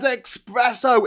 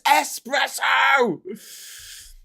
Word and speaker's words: espresso: He was misquoting, or like he pronounced the word incorrectly. Like he said espresso. It's espresso.